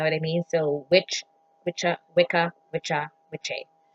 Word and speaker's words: Wicca: the view ICCA that people call now this pronounce which are and the a on the end suggests masculine